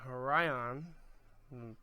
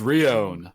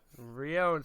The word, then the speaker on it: Rion: And then we have Ryan. That's how I pronounce his name. I probably pronounced it wrong. It is Rion. Rion, see? Rion.